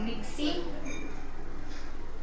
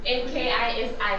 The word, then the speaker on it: Nkisi: I hope I'm pronouncing it right because I think it's Nixie, y'all. Nixie. Whoa, no. Yes. That is a lie. There's NK, you can ask him to come check if you don't trust me. I don't know. Kissy. I don't know what's Today it's just man. Nkisi pronounces. I say Nkisi.